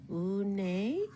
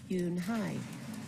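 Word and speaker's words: Unhei: "Uni?" some kids chanted. "No, no," Yun Hai corrected. "It's spelled U-N-H-E-I. It's pronounced Yun Hai." "Oh, it's Yun Hai," the boy said, "like you, hey."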